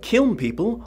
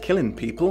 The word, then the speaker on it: Kiln People: Kiln people, often mispronounced killing people, which I assume was